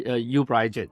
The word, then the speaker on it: uBriGene: Can you pronounce the name for me? It's a uBriGene.